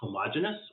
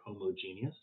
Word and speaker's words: homogeneous: different types of mixtures they can either be homogeneous or homogeneous or they can be heterogeneous or heterogeneous either pronunciation is valid uh in a homogeneous